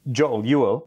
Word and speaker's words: Joel: in the composer video jialuo that's how you pronounce Joel in Swedish so you will yeah